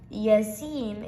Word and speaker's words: Yasin: Yasin is like yes and seen.